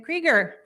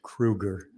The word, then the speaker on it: Krueger: of the saint croix it's pronounced kruger but you know when i come to wisconsin it suddenly becomes krieger i'm easy you can call me whatever you want to hi folks thanks for